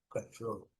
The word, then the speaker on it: control: Então eles falam control, control, control, ok? Control. A primeira sílaba é fraca, a última sílaba é forte. diferente do que nós nós nós importamos a palavra deles e alteramos a a a a tonicidade, né?